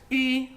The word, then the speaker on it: ü: It's not pronounced U, as in you and I, but Ü, as in the vowels of the word sweet mushed together.